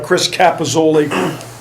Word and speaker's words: Chris Capozzoli: It's Chris Capozzoli, is how you say his name.